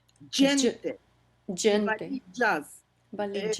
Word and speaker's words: gente: It sounded as if you pronounce it as a kind of in between j and j. J is a DJ, is a j, just like just in English.